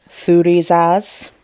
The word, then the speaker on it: Thurisaz: Thurisaz is pronounced, well, Thurisaz, and when used as an actual alphabet, it makes the sound th, so th.